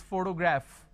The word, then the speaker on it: photograph: For example, if I have the word which is photograph, photography, photographer.